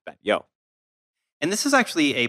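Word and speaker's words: Batlló: that's what it looks like uh but it pronounced Ben yo and this is actually a place that you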